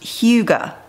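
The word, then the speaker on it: hygge: But it's pronounced Huga. I'm sure it's Huga. It's probably Huga.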